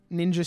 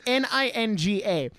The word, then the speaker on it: Ninga: no so racist because they think like the G and the J make the same sound and I'm like no